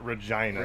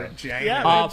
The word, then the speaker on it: Regina: Yeah, it looks like Regina, but they pronounce it Regina. Regina.